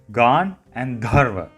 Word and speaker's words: Gandharva: So it's pronounced as Gandharva Ville. Gan and Dharva.